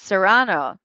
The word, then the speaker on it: Serrano: Because you want to go with Sarah, but it's Serrano.